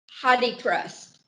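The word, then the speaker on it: HathiTrust: This is from an online version of Hadi Trust. and it's pronounced a gazillion different ways. It's spelled H-A-T-H-I, trust.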